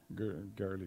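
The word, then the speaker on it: Goerli: You need to be able to get some some Ethereum from Gurley that how's it pronounced? I never remember. Girly, yeah.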